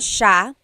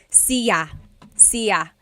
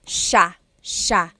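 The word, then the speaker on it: siya: couple things I want to point out about sha. First is the pronunciation. It looks like it should be pronounced sa cia. But it's actually pronounced sha sha.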